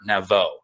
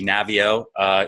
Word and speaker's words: Navio: And then I mentioned this guy, Robert Naveau, and she actually corrects me on the pronunciation of his last name. And she's like, it's actually Navio.